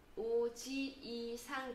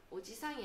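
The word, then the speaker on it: おじいさん: 오지이상 되죠. 오지이상. 같은 이 발음 나는 게 두 개 이렇게 있죠. 그러면 오지이상, 오지이상. 길게 발음합니다. 오지상이 아니고 오지이상.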